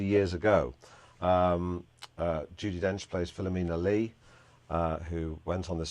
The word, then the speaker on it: Philomena: It's pronounced Philomena, Armenian.